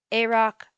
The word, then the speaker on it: AROC: notes title 2.1 notes a rock versus iroc um i'm going to be pronouncing a roc a rock and then i roc rock so 2.1